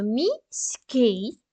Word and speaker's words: міський: ділимо слово на склади правильно міський ставлю йому наголос наголос на літеру И чудово даємо характеристику складів